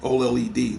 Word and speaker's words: OLED: had that for like the old LD OLED that's what it's pronounced it ain't been like